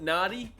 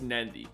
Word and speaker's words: Nadi: pronounce it Kadavu because when you see a D in Fijian, you put an N in front of it. That's how it's pronounced. Like when you come to Nandi, it's not Nadi, it's Nandi.